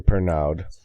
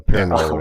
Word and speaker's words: Pernod: now and drink your Pernod. Or Pernod, however they say And then Yeah, you don't pronounce anything in words. You pronounce half the word.